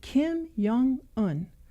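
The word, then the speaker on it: Kim Jong Un: his name he said Kim Young on like think Carl Jung and so I spelled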